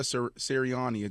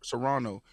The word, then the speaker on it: Serrano: up Jake Paul uh Jake Paul uh Amanda sariani did I say her name right Toronto Serrano Amanda Serrano he supports her in a major way do